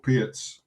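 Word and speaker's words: Pirc: So I sort of transposed into King's Indian, into an opening called Pietz, or Perk, as some people pronounce it, and quite dangerous as this for.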